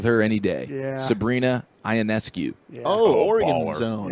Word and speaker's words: Ionescu: Sabrina Ionescu. Yeah. Oh, Oregon baller. zone. Yeah. Yeah, absolute superstar. She at one point in the fourth quarter You is said it right. Ionescu, you nailed it.